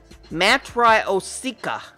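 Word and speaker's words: Matryoshka: the Russian name for nesting dolls is Matt Rio Sica that's how I'm going to pronounce it it's spelled ma T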